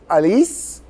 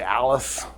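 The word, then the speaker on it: Alix: to Baldwin's daughter so her name is Alice but it's spelled a-l-i-x so most people just say Alice Elise his daughter at least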